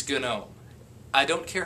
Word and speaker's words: GNOME: saying it that way it's GN know I don't care how